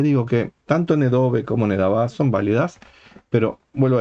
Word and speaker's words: Nedavá: Así que es evidente que está utilizando una pronunciación derivada del yiddish, donde las vocales, algunas de ellas cambian de la pronunciación israelí sefaradita, por ejemplo en este caso Nedove en lugar de Nedavá.